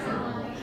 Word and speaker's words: colonel: But the pronunciation is not at all like it's written here. So the pronunciation is kernel.